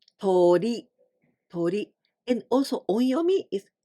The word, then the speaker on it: 鳥: This kanji means birds, aves, and we pronounce 鳥.